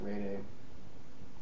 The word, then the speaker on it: rede: Some people, I've heard it pronounced rede. I say reed.